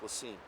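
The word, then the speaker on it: La Cygne: south of kansas city named lassen l-a c-y-g-n-e pronounced lacine it's about five miles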